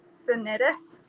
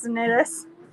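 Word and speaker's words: Cnidus: difficulty we finally neared sanitis it's literally c n how do you pronounce that c n i d u s sinis sounds like i sneezed in us but the wind was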